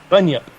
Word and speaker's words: bunyip: So did I pronounce it right, Robert? Bunyip? Bunyip.